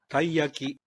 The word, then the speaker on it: taiyaki: oh it looks like this how do we pronounce it taiyaki hi Jackie can you try taiyaki alright what about the next one while whole